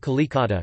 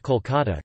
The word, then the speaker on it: Kolkata: The anglicized form Calcutta was the official name until 2001, when it was changed to Kolkata in order to match Bengali pronunciation.